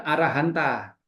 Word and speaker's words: arahanta: itu dari bahasa tertentu, arahanta, tetapi karena kebiasaannya huruf A itu dihilangkan, huruf A terakhir dihilangkan, bacanya menjadi arahan, ya itu adalah urusan untuk penggunaan bahasa Pali di lokal tertentu, bukan internasionalnya.